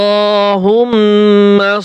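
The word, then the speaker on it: اللهم: আল্লাহ হা মিম পেশ হুম মিন জবর মা আল্লাহুম্মা আল্লাহুম্মা সদ লাম জবর সদ লাম জের সল্লি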